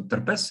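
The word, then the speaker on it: TRPES: spectra or shortly called therpes or erps but i will i will pronounce it in a in a slavic form so to say so terpes it's it's a little bit shorter uh and of course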